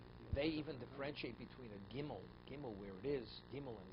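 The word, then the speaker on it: גימל: even differentiate between a gimel game oh where is himmelen Zion they pronounce it differently they pronounce the Yemenites gimel Jim oh they don't say gimel like the they say Jim there their pronunciation the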